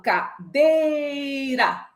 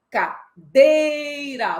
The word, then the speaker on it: cadeira: Quando eu falo cadeira, cadeira, você percebeu que o dei eu prolonguei? Então, esta é a sílaba tônica.